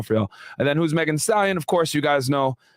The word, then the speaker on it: Megan Thee Stallion: Now, born 1995, known as Megan Thee Stallion, pronounced Megan Thee Stallion, is an American rapper originally from Houston, Texas.